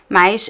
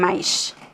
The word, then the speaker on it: mais: For example, I think in Rio de Janeiro, they would say mais and mais. mais. Same pronunciation. However, it's really important to write it correctly, right? Because they're different words with different meanings. So mas means but, and mais means more or plus, but the pronunciation can be the same.